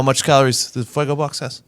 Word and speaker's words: Fuego Box: Fuego Box hot sauce. I said it wrong the first time. Make sure let's get it right. Fago, a very different product.